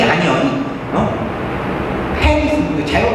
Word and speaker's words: panis: 패니스. 이거 잘못 발음했다가 진짜 큰일 나요.